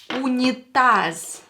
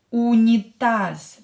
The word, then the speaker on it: унитаз: This Z will be pronounced as S at the end because it's at the end of the word.